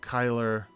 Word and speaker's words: Kyler: Pronounced like Tyler. Oh, Kyler.